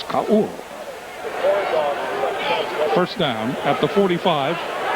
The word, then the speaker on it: Ka'ua: We look in the press guide and into all of the other releases, and Ka'ua is pronounced at least 3 different ways, but the correct way, the Hawaiian way, is Ka'ua.